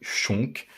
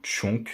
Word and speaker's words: chonk: la première fois un D chonk ou chonk selon la prononciation les deux se disent ça s'écrit C H o n K comme vous pouvez le voir dans le titre c'est un D qui